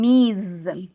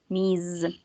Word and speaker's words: Ms.: We say Mr., Mrs., Miss, and Ms. Miss. Si se dan cuenta, aquí tienen como una Z, porque es un sonido que tiene que vibrar para diferenciarlo de Miss, ¿ok?